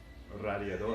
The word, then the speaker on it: radiador: It's just pronounced radiador in Spanish because the vowels are pronounced differently.